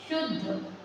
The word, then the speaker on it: शुद्ध: है द और ध ध पढ़ेंगे ध द का उच्चारण बहुत थोड़ा सा निकले आधा द और ध पूरा है तो हम क्या क्या उदाहरण ले सकते है शुद्ध द में ये मैंने